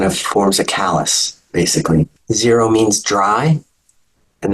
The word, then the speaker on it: xero-: Zero means dry, and that X is pronounced as a Z, so zero.